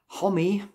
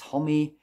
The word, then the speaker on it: Homme: With this album, Homie, I think that's the right pronunciation. I've also sometimes heard Hom, but I think it is Homie.